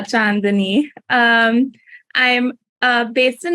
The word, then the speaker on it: Chandni: so hey everybody um I am John Denise um that's how you pronounce my name uh chandani um I'm uh based